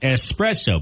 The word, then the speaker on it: espresso: of people say Etc it's like espresso people add the X that's not there it's not espresso it's